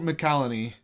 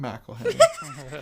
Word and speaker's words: McCallany: He's played by Holt McCallany. McCallany. I can never pronounce anything with Mac. McElhenney. It's not McElhenney.